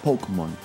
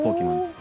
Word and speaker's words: Pokémon: como monst de bolsillo le agregaron el tilde en la E en Estados Unidos porque si no hubiesen pronunciado pokmon Ah entonces por eso le pusieron le el tilde sonara como Pokémon pero en España le